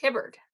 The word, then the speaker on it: Hibbert: Is it Hubard or Hibbert? Hibbert.